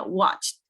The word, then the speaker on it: watched: We don't pronounce the ed here, right? No la pronunciamos la ed porque aquí tenemos una che antes de la ed, entonces sería watched. Watched. Ok, como una T al final.